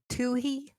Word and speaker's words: Toohey: Toohey? Rob Toohey? It's silent! The H is silent!